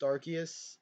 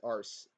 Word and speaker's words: Arceus: with that argument but uh but it's literally pronounced arceus officially and people still pronounce it arse even though it's [ __